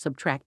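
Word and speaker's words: −: The singer-songwriter will also release his latest album, pronounced Subtract, on Friday.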